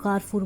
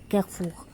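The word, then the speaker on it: Carrefour: आप लोग कारफूर बोलते हो उसको, बाज़ व्लॉग्स में भी मैंने देखा है कि कारफूर मतलब वहाँ पे, लेकिन इसकी एग्जैक्ट जो प्रोनाउंसिएशन है ना फ्रेंच में वो है कैफूक।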